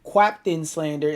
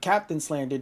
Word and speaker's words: QaptainSlander: For example, there's still humans that say my name QaptainSlander instead of QaptainSlander, despite there being no fucking U in my name, and the Q is just a stylistic replacement for the C.